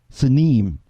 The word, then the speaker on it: Sinim: East, the land of Sinim, to pronounce it in the Hebrew, Sinim, that Isaiah 49:12 talks about, the land of Sinim.